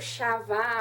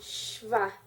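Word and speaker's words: שְׁוָא: Então, eu não pronuncio shavá ou chové ou chová. É simplesmente o som do shin, shvá.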